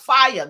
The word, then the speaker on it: FIAI: That's fire, and it's pronounced fire. Like you see that fire.